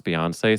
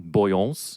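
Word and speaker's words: Beyoncé: memory of his is he didn't know how to pronounce Beyonce, so he was like, do you listen to Boyance?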